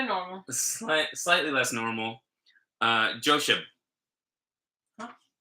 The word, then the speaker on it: Josheb: Josheb. Huh? It's like Josh, but Eb.